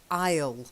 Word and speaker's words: aisle: it rhymes okay and the other one is aisle it's a small island so island is a silent s and so I own that's also a silent s yeah okay sorry